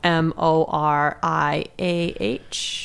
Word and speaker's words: Moriah: just a quick aside it's not spelled Mariah like Mariah Carey it's spelled m o r i a h yes okay just so people knowah it's like Moriah it's like the minds of Moria and Lord of the Rings I think I don't